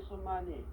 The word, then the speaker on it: 수마니: 수마니 그러면 어떻게 됩니까? 소마니가 아니잖아요. 수마니예요. 길 소자는 수로 읽어요. 수. 여기서부터 이게 달라져가지고 이거를 참 알려줄 수도 없고 이게 참 미치는 거예요, 저는 이게. 이걸 왜 소라고 읽어요?